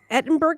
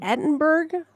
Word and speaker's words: Edinburgh: Edinburgh, Scotland, London, England, Sydney, Australia, or New Orleans, United States?